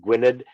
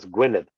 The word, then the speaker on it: Gwynedd: it's the Welsh, it's a double D is a hard TH, like the, and that just, I've known that for years, and it's always bugged me when I've heard it pronounced like Gwynedd, and it's Gwynedd, and